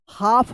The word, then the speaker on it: half: हाफ पढ़ेंगे, हाफ, क्या पढ़ेंगे? हाफ। यहाँ पे भी क्या है? एल साइलेंट है, हाफ।